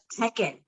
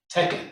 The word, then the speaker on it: Teken: So in Egypt, it is called Tekken, which is spelled Teken. Tekken.